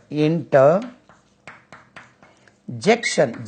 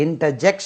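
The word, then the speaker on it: interjection: verb then इंटरजेट इंटर जेक्शन जे ई सी टी आई ओ एन देखिए यह हुआ कंजंक्शन ये इंटर जंक्शन नहीं होता है इंटरजेट होता है इंटरजेट कंजंक्शन इंटरजेट कंजंक्शन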